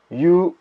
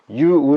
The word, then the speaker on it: 猶: 아 행으로 발음 됩니다 그리고 이유는 중성 이유 짜는 그대로 유우 로 발음된다 라고 보시면 되겠어요 자